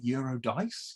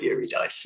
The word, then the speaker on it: Euro Dice: because it's about like euro dice euro dice you're almost like getting something like that and most people mispronounce it most people call it yuri dice yuri dice because you